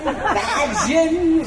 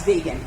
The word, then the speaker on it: vegan: They said vegan, vagin. It kind of sounded a little X-rated, didn't it? Well, today everybody knows vegan.